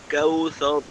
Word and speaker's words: الكوثر: بسم الله الرحمن الرحيم إنا أعطيناك الكوثر كاو এই যে কাও আছে না এই কাও এটাকে চেষ্টা করবেন ওয়াও এর উচ্চারণটা যেন নরম থাকে আর একটু নরম করা যেতে পারে কাউসর كوثر كوثر اعطيناك الكوثر كوثر কাফটা শক্ত হবে ঠিক আছে ওয়াও এর উচ্চারণটা আরেকটু নরম করতে পারলে আরো ভালো হবে আবার ইন্না ইন্না اعطيناك